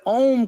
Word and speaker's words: Om: It's not like one is pronounced slightly different because when 2 vowels come together in Sanskrit, the A and the U, the second vowel becomes silent. And so that's why when Om comes together, A-O-M, it goes Om.